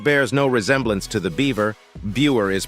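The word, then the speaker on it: Biewer: $3,500 though it Bears no resemblance to the beaver beer is pronounced Beaver these Yorkshire lookalikes are named for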